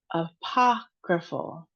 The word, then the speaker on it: apocryphal: So, apocryphal. Apocryphal. Apocryphal. Ah. So, you can see this umlaut above the A, it goes ah instead of puh.